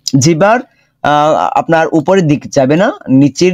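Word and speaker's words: ن: আচ্ছা, নুন জিহ্বার আপনার উপরের দিক যাবে না, নিচের যে সাইডটা আছে এই সাইড স্পর্শ করবে। লম্বা হবে 4 আলিফ পরিমাণ। নুন ঠোঁট গোল হবে, নুন উচ্চারণে ঠোঁট গোল হবে।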